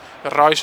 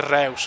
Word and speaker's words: Reus: Royce non si dice Reus, no Royce.